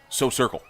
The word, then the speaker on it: Social Circle: I'm told the correct pronunciation of is So Circle. Circle? I think you got to mash it all together.